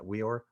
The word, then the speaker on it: Weor: How do you pronounce that? Weor?